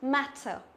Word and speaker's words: matter: Thì e bẹt ở trong tiếng Anh ấy thì nó sẽ đọc là, nó sẽ đọc như này, ví dụ matter. Đấy, matter tức là chúng ta đọc bẹt cái miệng của chúng ta ra.